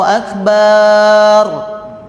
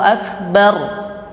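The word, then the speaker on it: أكبر: Allah Maha Besar Allahu akbar bar ba satu harakat ba ba bar tambah getar bar bar kita gak mau bilang jadi bar artinya jadi beduk Akbar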